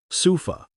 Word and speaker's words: sofa: For example, in the word sofa, the O is pronounced as a schwah. Sufa. It sounds like suf.